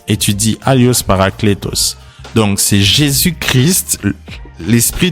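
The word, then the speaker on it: ἄλλος: Aios. Je n'ai pas bien prononcé, mais c'est A-2-L-I-O-S. Étudie Alios Parakletos.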